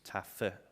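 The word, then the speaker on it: Taaffe: century were irish austrians taffy as is pronounced here and the last living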